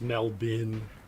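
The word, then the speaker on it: Melbourne: Yeah, I know people pronounce Melbin. It's what, you know, it's like, you know, Toronto is Toro- Toronto.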